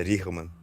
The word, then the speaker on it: Richman: Então, a gente fala Richman para ser mais fácil, mas o mais próximo do holandês é Richman.